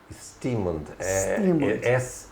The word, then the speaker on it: Steamond: Stearmond. Stearmond, é como se escreve.